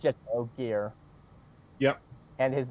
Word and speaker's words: Ogier: I remember the Orgier. Anyone want to help me with the pronunciation of that? I think The big it's hairy just dude. Ogier. Yeah. I think it's just Ogier.